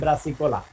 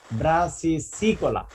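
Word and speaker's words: brassicicola: আর একটা হবে অল্টারনারিয়া ব্রাসিকোলা, কি তোমাদের ছাত্ররা বেশিরভাগই বলবে ব্রাসিকোলা, ব্রাসিসিকোলা, ব্রাসিসিকোলা, অল্টারনারিয়া ব্রাসিসিকোলা। তাহলে এখন দুইটা কনিডিয়ার মধ্যে কে পার্থক্য বলতে পারবা?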